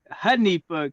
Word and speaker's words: Hanifa: Hanifa Khalif, right? Yes. Honey. It's pronounced like a honey with a pho on the end.